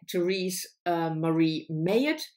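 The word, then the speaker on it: Therese Marie Mailhot: a memoir, Heartberries, by Therese Marie Mayotte. That's how I learned it is pronounced. If it's wrong, tell me, but that's how Trevor Noah pronounces, and I'm assuming that he knows what he does.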